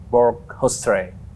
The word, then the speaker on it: Hoesterey: Siapa lagi kalau bukan James Borghousetre. Did I pronounce right?